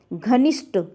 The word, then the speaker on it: घनिष्ठ: शब्द होता है घनिष्ठ यहां ठ का प्रोनाउंस एशन ध्यान रखिएगा यहां ट का का प्रोनाउंस एशन घनिष्ठ ट क्या होता है जिसमें घनिष्ठ में ट क्या है अशुद्ध शब्द है जबकि घनिष्ठ ठ होता है तो घनिष्ठ क्या है